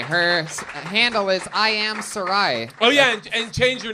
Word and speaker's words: Sarai: Sarai. Sorry. Son of a bitch. Sarai. Her handle is I am Sarai.